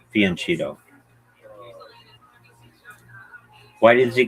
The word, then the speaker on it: fianchetto: Yeah, Fiumetto, like Fumeto. I've only heard Dogfish, the YouTube channel, say that. Most people say Fianchetto. Okay. Yeah, Fianchetto.